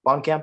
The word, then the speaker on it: Blomkamp: I was surprised to see Neil Blomkamp, is how you say it.